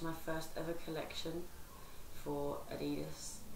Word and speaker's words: Adidas: first ever collection for Adidas I have to pronounce it like that because that's how you pronounce it um I have honestly